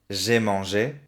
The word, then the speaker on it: j'ai mangé: Le verbe manger, si digo en pasado, passé composé, j'ai mangé, y en imperfecto, je mangeais, son dos pronunciaciones diferentes. Je mangeais, imperfecto, j'ai mangé, passé composé.